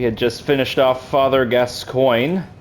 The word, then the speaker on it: Gascoigne: I believe that's the way that you're supposed to pronounce his name, Gascoigne. Although I sometimes joke that it's pronounced Gascoigne. Gascoigne. Yep, that actually I think that other one is the real one.